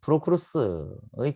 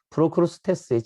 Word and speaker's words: 프로크루스테스: 발음도 하기 힘든 프로크루스의 침대다라고 이야기합니다. 프로크루스테스의 침대라고 이야기하죠.